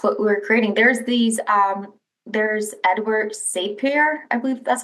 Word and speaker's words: Sapir: There's Edward Sapir, I believe that's how you pronounce his name.